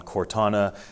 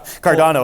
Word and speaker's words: Cardano: looked into options to mint on cortana uh on or cordona i think i just said it wrong donna i think it is cardano i said it right i said it